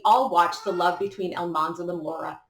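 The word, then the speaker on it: Almanzo: watched the love between El Manzo and Laura not heat up. Side note, it's El Manzo, not El Manzo, but the mispronunciation on the show has forever altered the real El Manzo's name.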